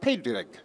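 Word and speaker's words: Pádraig: now an idol and Patrick is pronounced pay dig spell PA d ra IG so in Ireland is usually referred to as st.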